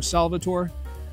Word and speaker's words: Salvator: really smell that palana salvata or salvator uh you'll hear it pronounced sometimes very malty get